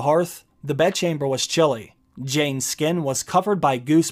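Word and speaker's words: Jeyne: to hold her still jane jane it rhymes with pain he tightened his grip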